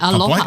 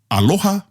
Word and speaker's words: aloha: Ai, aloha.